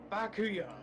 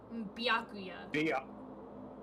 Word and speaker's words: Byakuya: About Bakuya. You think he's being brainwashed or Bakuya. what? Dude, I just can't for the life of me pronounce his name right. Byakuya.